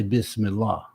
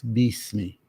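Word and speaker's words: بِسْمِ: first Ayah is that a lot of people say bis but it's really that the letter that we pronounce I like as in it okay is really always e so instead of B me it's Beast me and we're used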